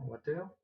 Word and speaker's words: Waters: Il a sorti une musique qui est très très bonne à Waters, comment on prononce ça? Water? Oui, il n'y a pas de S, Water.